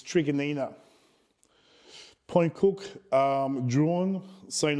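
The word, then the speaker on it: Truganina: morang trigger Nina uh it's not chaganina it's people keep mispronouncing it's an Aboriginal name of of a group that used to own that land it's called it's trigonina Point Cook um drawn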